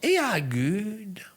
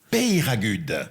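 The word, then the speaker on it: Peyragudes: Et c'est la dernière sélectionnée qui va gagner un séjour à Éragude. Péiragude. Péiragude. Prononcez bien, s'il vous plaît.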